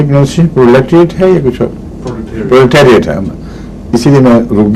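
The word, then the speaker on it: proletariat: Industry check کی تھی، پرولیٹیریٹ ہے لفظ۔ تو اگر پہلی کیسٹس میں کوئی سنے تو اس کی اصلاح کر لے، پرولیٹریٹ نہیں ہے، پرولیٹیریٹ۔ اور وجہ یہ ہے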